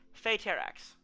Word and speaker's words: Phaeterax: Now you might think, hey Finn, isn't that Phaeterax? And I'm like, well yes, but actually no. Because I've been pronouncing her name wrong for, what is it, several months that we've known each other? Anyways, Phaeterax. Very simple.